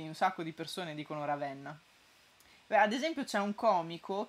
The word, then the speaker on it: Ravenna: ravenna ma mara ben dicevano ravenna è aperta lo dicono i sardi si sardi dicono tutto